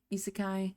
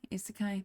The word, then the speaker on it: isekai: Isekai. Isekai.